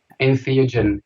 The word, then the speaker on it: Entheogen: Ben, how do you pronounce the title in the title of the video? Entheogen.